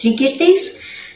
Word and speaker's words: Tricyrtis: Italian more, this time I'll go with the classical Latin pronunciation, which is Tricyrtis, because it sounds exactly like the ancient Greek word from which it derives.